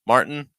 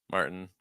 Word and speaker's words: Martin: um Spain we have Martin Martin notice the HT plus the N it's like Martin Martin uh Hugo Hugo and